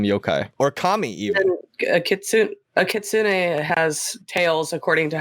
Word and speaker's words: kitsune: It's pronounced kitsune.